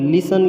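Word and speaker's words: listen: जो है तो उसमें लिसन लिख लेंगे ल आई एस टी आई एन जिसमें टी जो है साइलेंट लेटर शब्द है वो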